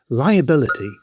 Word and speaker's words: liability: Liability. First, pronunciation. It has five syllables: The stress lands on the third syllable — BIL. lie-uh-BIL-ih-tee.